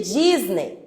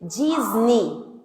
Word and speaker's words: Disney: Não existe Disney. Vem cá, teacher. Existe Disney. Disney. Toda palavra que termina com Y vai ter som de i.